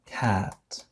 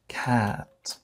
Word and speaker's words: cat: لاحظوا الكلمة التالية، هذه تنطق cat، cat، القط، cut، cut، cat، cut، cat، cut.